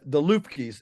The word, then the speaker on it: Luebke: The most poignant story I ever read about this, there was a farm in Austria, the Lufkes. It's spelled Luebke, I think. It's pronounced like Lufke.